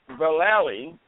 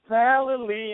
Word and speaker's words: Vallely: said it wrong again he said Val it's very easy and if you sing it you can do it right valy and he started singing